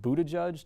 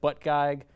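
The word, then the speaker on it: Buttigieg: also keeps insisting that his last name is pronounced Buddha judge despite the fact that it's spelled and looks like butt gag which to me is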